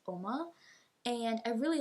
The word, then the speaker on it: Uoma: It's not Uoma, it's Oma.